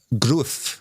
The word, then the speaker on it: Gruev: understand, listening to it, where the confusion has come from between Gruev, which is what we thought it was, and then Gruev, where they're rhyming with Cruyff, which is what Brinlaw, because it's kind of a bit of a combination of the two.